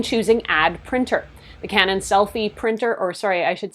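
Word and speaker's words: SELPHY: You turn the printer on and make sure to download the Canon Selfie app, and that is spelled S-E-L-P-H-Y.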